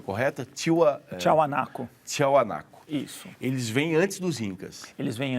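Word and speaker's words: Tiahuanaco: que viveu ali a pronúncia correta é a pronúncia correta tio tchau anaco tchau anaco isso eles vem antes dos incas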